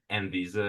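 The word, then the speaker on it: Anvisa: So, first of all, you did perfectly with the pronunciation. Okay, you can say N visa. It's just like that.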